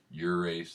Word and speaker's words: gyrase: I think probably the correct pronunciation is urease, like a euro. It's a Greek word.